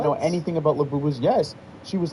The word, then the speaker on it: Labubu: Labubu. How you spell it? Labubu? Labubu. It's the way it actually sounds. Oh, yeah. It's, what's a phonetic? It's a phonetic.